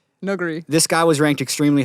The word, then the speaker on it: Nuguri: Well, it's like it's between a U and an O sound. Noguri. Nuguri.